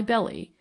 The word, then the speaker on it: Belly: name naturally arouses curiosity why belly was it not the Anglo-Saxon Frontier pronunciation of the Frenchman's original Bell the river remember is